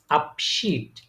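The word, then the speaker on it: Abschied: হ্যা এই বলার সময় দেখেন বলে ফেলতেছেন যখন উচ্চারণ করতে তখনই হয়ে যাচ্ছে কিন্তু তাই না তাহলে এটা কি হচ্ছে আপশিট আপশিট আপশিট মানে হচ্ছে টেকিং লিভ বা বিদায়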